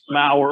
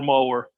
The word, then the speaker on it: Mower: People ask us at least once a week, how do you say it? And the answer is yes. That's the easiest way, Mower or Mower.